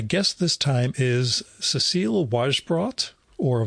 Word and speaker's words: Wajsbrot: My guest this time is Cecile Wajsbrot, or Wajsbrot, as I heard it pronounced in a French interview, Wajsbrot.